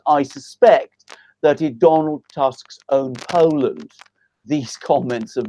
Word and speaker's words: Tusk: in all sorts of places you guys it's pronounced tusk okay and he suck he's a costume he's